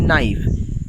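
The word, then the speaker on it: knife: কিন্তু কে আছে কিন্তু উচ্চারণের সময় কে এর উচ্চারণটি হয় না কে নাইফ না বলে আমরা বলি নাইফ same H ও ইউ আর এখানে দেখো এইচ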